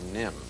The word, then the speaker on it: NIMH: with an animated feature called The Secret of nim well our first movie is a delightful animated